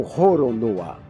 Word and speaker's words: Roronoa: Olané no Japão é pronunciado como Roronoa.